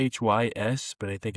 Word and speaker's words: Rhys: They've signed, I believe it's pronounced Reese, Rhys, but I think it's pronounced Reese.